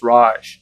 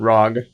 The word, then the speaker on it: Raj: It's Raj, not Rog.